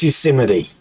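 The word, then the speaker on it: Yosemite: he got up and he doesn't even know Euseite Park watching an interview. He doesn't even know how to pronounce the guy's a freaking Even I know it's Euseite.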